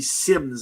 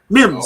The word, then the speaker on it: Mims: him up as well that would be Sims I believe it is if I'm not mistaken that's how you say his name or am I Mims sorry M there we go I'll